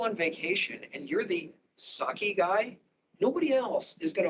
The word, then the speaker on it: psake: in 2008 there was psake which is pronounced sake and that is a